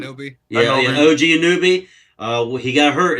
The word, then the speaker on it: Anunoby: OG, I can't pronounce his name. Anunoby? Yeah, Anunoby.